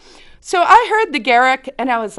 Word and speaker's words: Gericke: Now remember, I think my name is pronounced Gericke. So I'm like not even listening. I don't even think they said. They just said Gericke, Gericke.